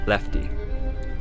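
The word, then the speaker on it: LEFTE: and one was titled l-e-f-t-e pronouncing lefty the letters stand for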